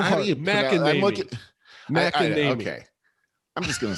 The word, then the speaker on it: McEnany: court packing, and I saw something from Kayleigh McKinney saying, McEnany. It's hard. It's so how hard. McEnany.